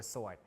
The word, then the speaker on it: sword: pronounced in other words the W is not pronounced so such so to